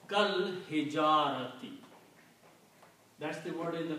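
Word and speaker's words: كالحجارة: So now, if you pronounce this word, you combine kaf with lam, kal hijarati.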